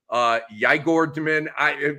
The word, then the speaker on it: Igor Demin: Your boy Demon or whatever his name is, Igor Demin. Yigor Demin. Here comes Andre with the pronunciation, but the top 10 pick that Brooklyn had.